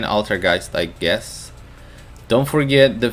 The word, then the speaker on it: Altergeist: It's pronounced like Geist. Boys, you're messing me up. Alright, I'm gonna keep saying Altergeist, I guess.